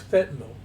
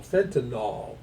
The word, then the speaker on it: fentanyl: attorneys, all these people will very often say the name incorrectly. They'll say it like it's an alcohol. Fentinol. Well, it's not spelled N O. It's spelled N Y L. Fentanyl.